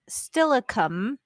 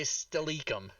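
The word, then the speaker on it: Steilacoom: the people who live there and it was pronounced stillicum yeah still accomplishment people say stalicum yeah or people say stylokum my favorite is a city that is also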